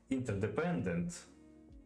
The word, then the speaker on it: interdependent: He's an R in the middle of this word, yeah? Interdependent. From the word inter, we can hear the R in American, and we can't hear it in English.